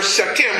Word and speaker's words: Sekhem: It's spelled S-E-K-H-E-M, Sekhem.